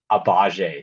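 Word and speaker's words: Agbaji: Okay, so we received Kelly Olynyk and is it Ochi Yeah, Abaji? it's Ochai Abaje. The G is silent.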